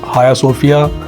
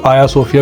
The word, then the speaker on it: Hagia Sophia: لے کے چلتے ہیں عظیم الشان مسجد ہایا صوفیہ، جس کو کچھ لوگ آیا صوفیہ بھی بولتے ہیں، کچھ حاجیہ صوفیہ بھی بولتے ہیں، اور کچھ حاگیہ صوفیہ بھی بولتے ہیں۔ سارے پروننسیشن، سارے تلفظ ہیں، لیکن یہ عمارت بہت